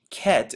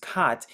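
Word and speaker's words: חית: the modern one, is Chet, and we talked about the pronunciation, how it's just kat and makes the K or H sound interchangeably and represents the wall of separation.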